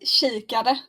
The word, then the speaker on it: kikare: Flax kikare. Kara. Yeah, God. Kikare. Shikara. You pronounce the A more.